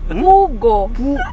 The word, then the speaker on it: pugo: This is this pogo. This this pogo. Ah itlog itlog itlog. Pogo egg. Pogo. Yeah. Pogo. It's pronounced pugo.